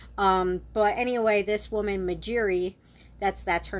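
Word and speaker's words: Magiere: funny and convenient um but anyway this woman majeri that's that's her name at first I wanted to pronounce it margerie but it's clearly spelled mjeri um so the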